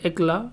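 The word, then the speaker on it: éclat: connect अगर कर दे एकला यहां पर टी क्या है साइलेंट है एकला को से अगर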